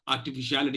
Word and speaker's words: artificiality: in the sense because it has 7 syllables and it has 2 syllables which take the secondary stress. Okay. Now you may have a question here. How do I treat these 2 syllables? I mean, are they equally stressed? As of now, treat it like that. You have to treat it like that. Okay.